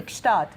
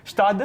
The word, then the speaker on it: Gstaad: It's actually Gstaad. Yeah, how do you pronounce it? Gstaad. Gstaad.